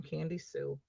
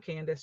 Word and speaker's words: Candy Sue: So I'm Candy Sue. And not Candace, just Candy Sue.